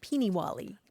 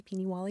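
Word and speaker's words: peenie wallie: Peeny Wally. Beanie Wally. Sounds familiar, yeah. Yeah, it's spelled lots of different ways, like P-E-E-N-I, and then another word, Wally, like the name Wally, Peeny Wally.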